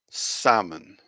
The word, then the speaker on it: salmon: here we have francai the pronunciation salmon salmon we can see the different vowel sounds we have here sa man salmon yeah and obviously we can see that there is no l sound there at all like you said so it's salmon salmon okay good okay you